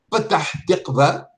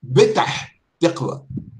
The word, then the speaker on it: Petah Tiqva: Souvent, les arabophones, par exemple, au lieu de dire la lettre pa, ils disent ba. Oui, oui. Par exemple, la ville de Petah Tiqva, ils Oui. prononcent Betah Tiqva.